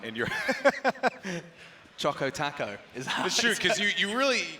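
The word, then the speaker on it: chocoTaco: it wrong a guy do taco doesn't rhyme we're talking oh boy yes choco choco taco oh it's supposed to rhyme yeah it's got a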